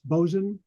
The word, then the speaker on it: boatswain: it, you know, or a boatswain is how the word looks, but I know it's pronounced bosun.